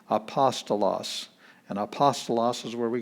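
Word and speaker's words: ἀπόστολος: here's the beginning letter it's a vowel it's got smooth breathing there's no h sound apostolos and apostolos is where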